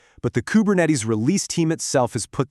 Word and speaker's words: Kubernetes: So, the pronunciation follows its Greek roots with the stress on that third syllable, Kubernetes, not naties, neties.